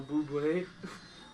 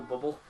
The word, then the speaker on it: Bublé: Michael Bublé. Or Michael Bubble. Uncle Bubble. Well, no, his name, Michael Bublé, is spelled weird.